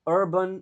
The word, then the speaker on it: urban: Eh, title-nya adalah Sustainable Urban Development in Asia. Semua kata ini kita sudah bahas. Mungkin urban belum? Ini U-nya dibaca e.